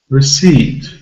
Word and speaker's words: receipt: vowel sounds received received so this word has a stress on the second syllable usually two syllable nouns